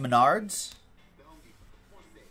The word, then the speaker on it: Menards: Bove and the Stroh's it's pronounced Menards it doesn't exist out here I don't have to learn how to pronounce it Rex Bernards met ARDS well next time on